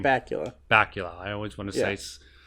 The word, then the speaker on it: Bakula: Bakula.